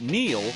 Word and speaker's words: Neel: It's no coincidence that Neel rhymes with deal, because that's something you could always count on with the leader in tires and auto repair for nearly a century.